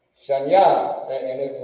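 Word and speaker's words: שניים: Shanya, and this is how you say it. You pronounce it Akkad. Akkad. Then you got Shanya. Shanya equals 2. And this is how you pronounce it. Shan. Ya.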